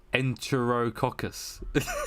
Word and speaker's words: Enterococcus: So Enterococcus is a Enterococcus is how you pronounce it.